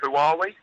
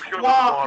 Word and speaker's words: Huawei: Who are we? Huawei. Did you just hang on? Did you just call them Who Are We? Yeah, well, it's hard to pronounce though. But I think it's Huawei.